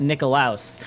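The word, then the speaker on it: Nickolaus: so it's actually it's spelled n-i-c-k-o-l-a-u-s and it's pronounced nikolaos and fun fact about santa that most people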